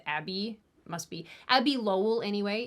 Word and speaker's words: Abbe: Lemon's attorney, whose name I'm actually not super sure how to pronounce because it's spelled A-B-B-E, which I think is Abby, must be Abby Lowell anyway is her name.